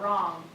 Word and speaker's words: wrong: Sometimes I get that mixed up because the W is silent.